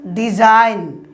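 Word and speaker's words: design: বলছে আবার এক্ষেত্রে জি অনুচ্চারিত থাকবে।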